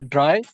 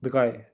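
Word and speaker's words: drei: नो इन नोइन या अतीक आप बताएं के थ्री को कैसे प्रोनाउंस करेंगे? दो या ड्राई या आर जो है वो उसकी आवाज निकालेगा नहीं इसमें आर की आवाज निकालेगा या गन की गन की सर गन की दगाए ओके दगाए अगर आप आर की भी निकालेंगे तो कोई मसला नहीं है इतना दगाए बस दगाई ही कहते हैं दगाई सुना है मैंने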